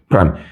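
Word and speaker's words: prime: 이 프라임이란 용어가 프라임이라고 읽을 때가 있고 다시가 아니라 대쉬라고 읽을 때가 있어요. 대쉬. 이거는 이렇게도 읽고 이렇게도 읽어요. 근데 얘를 콩글리시로 다시라고 읽으시는 거야. 무슨 말인지 알겠어? F 다시 A라고 하신단 말이야. 근데 이 대시는 숫자에서만 붙였을 수 있는 거고 문자에 붙일 때는 프라임을 읽어줘야 돼.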